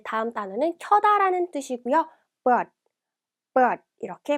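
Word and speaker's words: เปิด: 자, 켜다는 but, 끄다는 빛, 발음이 유사하기 때문에 꼭 같이 공부를 해주셔야 돼요.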